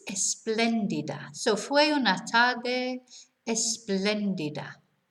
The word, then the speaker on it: espléndida: So notice where the accent is on the second E. So it's not esplendida, it's espléndida.